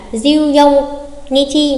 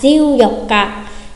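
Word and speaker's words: 十四日: Cụ thể ngày 14 sẽ không phải là diêu dông Nichi mà sẽ là diêu dọc cả, diêu dọc cả.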